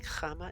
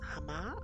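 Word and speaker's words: Háma: It's a little accent above the A here. So I just read it as Chama instead of Hama.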